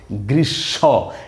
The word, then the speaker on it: গ্রীষ্ম: যদিও শয়ের নিচে ম আছে কিন্তু ময়ের উচ্চারণ হবে না, বরং এই ম ফলার কারণে মূর্ধন্যস্যটার ডাবল উচ্চারণ হয়ে দ্বিত্ব হবে।